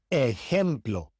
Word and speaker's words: ejemplo: The J in Spanish is not pronounced J as it is in English. It is pronounced like the H in English, also like the soft G in Spanish. For example, jugo, jugo, ejemplo, ejemplo, jueves, jueves. The J is always pronounced this way in Spanish.